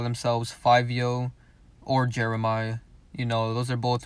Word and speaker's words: Jeremih: And I always thought his name was Jeremiah, but I guess it's pronounced Jeremih.